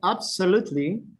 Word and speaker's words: absolutely: If you say, most of them are, the stress is in the, for example, in the first letter, the first vowel, definitely, actually, certainly, honestly. Yes, it's in the first syllable. Except absolutely, absolutely, absolutely.